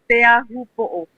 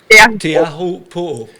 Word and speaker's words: Teahupo'o: But so how you pronounce it well is Teahupo'o. Teahupo'o. Teahupo'o. You pronounce all the letters in that word. Teahupo'o.